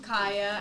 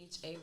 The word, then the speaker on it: Chaya: I'm Kaya at XO, but that's CHAYA. Thank you. And spell it out. It's not Chaya.